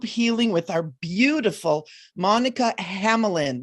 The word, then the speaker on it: Hanlin: We are doing a group healing with our beautiful Monica Hanlin, right? Is that how you say it? H-A-N, Hanlin. Hanlin.